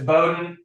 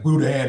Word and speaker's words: Bowden: And how you pronounce your last name because I keep mispronouncing it. It's Bowden. Okay. It's okay. It looks like Okay. All right. This This thing's got some fine print. This almost look like Budan in front of me.